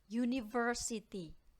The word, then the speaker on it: university: book contoh yang kedua University huruf depannya apa u ya Apakah itu konsonan bukan itu vokal Tetapi dia tetap menggunakan kata e karena dibacanya adalah University sama dengan ketika kita membaca yellow sehingga dia sound-nya adalah